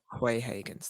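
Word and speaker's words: Xiaonan: the 155 Fight Against Yan uh can you pronounce his name again Yan qu Higgins qu haens thank you against Yan qu haens we've seen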